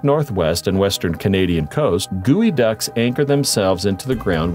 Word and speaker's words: geoduck: makarunga first of all it's pronounced gooey duck contrary to what one might think this creep is not related to a duck at all gooey duck or geoduck is a large clam